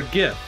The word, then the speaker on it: GIF: g sometimes it's just a hard g for gif but come on good